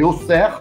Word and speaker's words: Auxerre: É logo na sequência vocês viram a cidade que a pronúncia certa é Auxerre, essa cidade.